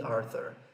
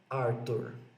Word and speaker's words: Arthur: Mesma coisa também com o nome Arthur, King Arthur. Não é Arthur, é Arthur. Tudo bem?